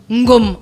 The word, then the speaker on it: Ngomo: On a Ngomo, le porc épic. Ngom. Ngom. Ah, on prononce pas le O.